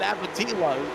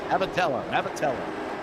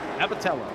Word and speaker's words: Abatello: So you heard me say Abatello, but then I said Abatillo. Yeah. You know, Kylo. Yes, for sure. Abatello. Like Jello. Abatello.